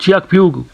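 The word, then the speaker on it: Kyaukphyu: आप देख रहे हैं कक फू लिखा हुआ होगा लेकिन असल में इसको प्रोनाउंस चक फ्यू बोलके ये कहते हैं इसका मतलब है वाइट रॉक ये उनका टाउन है लिखा इस तरह से जाता है इसकी प्रोनंसिएशन डिफरेंट होती है असल में तो ये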